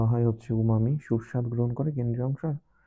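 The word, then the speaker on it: umami: অংশটা, কেন্দ্রীয় অংশ হচ্ছে এটার প্রোনাউন্সিয়েশনটা একটু মজার, স্বাভাবিকভাবে মনে হয় উমামি বা ইয়াম্মি, সুস্বাদ বা ইয়াম্মি বলা হয়। এটা হচ্ছে তোমার কেন্দ্রীয় অংশ। এই এটা গুরুত্বপূর্ণ এই তথ্যটা। কেন্দ্রীয় অংশ বলা হয় হচ্ছে উমামি, সুস্বাদ গ্রহণ করে কেন্দ্রীয় অংশ।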